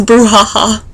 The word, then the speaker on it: brouhaha: Yes, she says brouhaha.